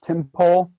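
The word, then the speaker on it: Tympole: My favorite critter lately is, I think it's pronounced Timpole.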